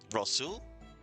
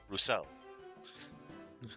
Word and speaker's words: Rousseau: Rasul? How do you pronounce that? I'm sorry. I always make sure to, Oh, Roussel. Okay, Roussel.